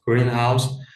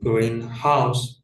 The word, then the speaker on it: greenhouse: For for example, for greenhouse primary stress on the first element which is a structure for growing plants whereas greenhouse primary stress on the second element which is a house that is green in color.